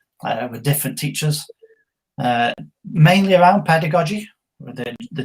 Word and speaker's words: pedagogy: How to say pedagogy, soft G.